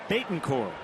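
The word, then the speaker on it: Betancourt: he's in for it yunesi Bon core that's how you say it we have been saying it wrong well from this point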